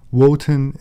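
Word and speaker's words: Wotan: lower social classes wotenism woten is the german pronunciation of odin liszt claimed that the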